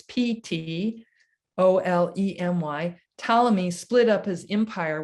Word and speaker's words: Ptolemy: Alexander's generals, including a man named Ptolemy, you've seen this spelled before with a P, it's Ptolemy.